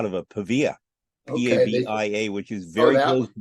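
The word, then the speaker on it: Pavia: which is not far away yeah no not paa pava which is very close to be J both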